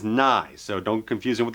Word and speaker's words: Nighy: last name it's not Nike or anything else he's confirmed his actual pronunciation is nigh so don't get confusion